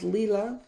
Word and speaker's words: Leela: It is Leela Studio. On her Instagram bio, she has a phonetic spelling pronunciation of her name, Leela.